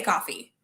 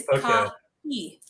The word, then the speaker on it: Kahi: A lot of people say coffee, but it's Kahi.